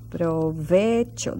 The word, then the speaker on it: provecho: you so when provecho provecho that's in your word little tricky because of that CH sound provecho now since we